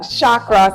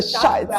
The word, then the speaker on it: chakra: So I'm gonna let Taki talk to you guys about what chakra. See, I'm even saying it wrong. It's a chakra. C-H-A-K-A. Yes. Okay. Chakra is chakra.